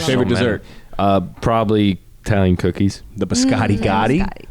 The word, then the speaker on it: biscotti: The biscotti gotti, Biscotti.